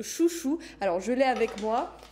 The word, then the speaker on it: Xuxu: Ça s'écrit Xuxu, mais ça se prononce Chouchou.